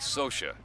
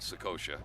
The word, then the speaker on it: Socha: 18 year olds and it's Mike Socia not sukosha I mispronounced it Mike Sosha but really if you